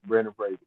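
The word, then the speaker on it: Brendan Fraser: Now that I know I've been saying his name wrong, I'm going to make sure I say it right. Brandon Fraser.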